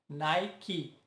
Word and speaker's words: Nike: E neste aqui sempre se lembram de não pronunciá-lo, mas na verdade ele precisa ser dito no final. Nike, Nike.